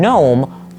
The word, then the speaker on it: gnome: Why do words like knife, right, and gnome all start with these silent letters that we don't actually pronounce?